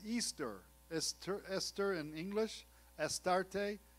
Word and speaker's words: Ishtar: bale she was called ishtar pronounced easter es esther in english